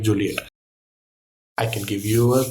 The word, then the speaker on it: Juliet: So, J U L I E T as Shakespeare would have written it, V pronounce as Juliet.